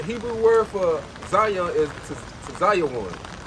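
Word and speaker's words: ציון: The Hebrew word for Zion is Tzayon. That's the Hebrew pronunciation.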